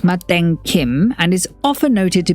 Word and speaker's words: Matin Kim: In Korean, the brand is pronounced Maden Kim and is often noted to be a little